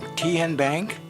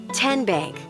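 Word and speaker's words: TN Bank: How do you say the name? Kien Bank? Nope. Tin Bank? Uh-uh. So, what is it? 10 Bank. 10 as in Tennessee.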